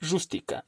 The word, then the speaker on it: rústica: La palabra rústica tiene 3 sílabas. Rústica, palabra trisílaba. Entonces, la sílaba tónica es la primera. Rústica. Como es esdrújula, se tiene que tildar. Masaje.